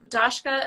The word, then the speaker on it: Dashka: we can support them dashka am I pronouncing your first name correctly you absolutely are okay okay good um